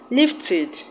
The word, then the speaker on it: lifted: So you now know that E, the E in ed, that's the past tense marker, is pronounced as E.